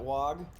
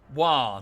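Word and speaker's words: Waaagh: You rocking that WOG? Yeah. War, not WOG. It's war.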